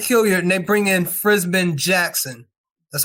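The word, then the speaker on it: Frisman: They got rid of Ike Hilliard, and they bring in Frisbin Jackson.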